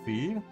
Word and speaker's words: Fi: Wait, the katakana is fei. So they just pronounce it differently in Japanese. Oh, sorry. It auto translated to fi. That's so funny. So yeah, because that would be fi.